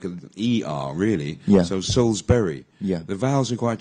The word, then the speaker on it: Salisbury: when I was young I thought it was Salisbury Road and you would yeah and you would you read it Sal is Sully's buried yeah actually yeah even even I missed out this video it's just miss out the eye yeah so Souls yeah Berry and it's Berry actually